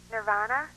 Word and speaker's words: Nirvana: Hi, the correct pronunciation of that band is Nirvana.